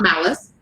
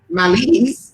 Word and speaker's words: malise: He said it's pronounced, it's not malice. So he's correcting us. He said, and so of course we're all learning something a little bit new here this evening. He said it's pronounced malise, which is kind of